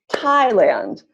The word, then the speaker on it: Thailand: second syllable Thailand so where's the stress for that second word Thailand Thailand first excellent work yes great work everyone answer is first syllable Thailand so I'm gonna take